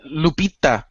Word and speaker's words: Lupita: to mess it up Lupia nongo no you said Lupita Lupita what who speaks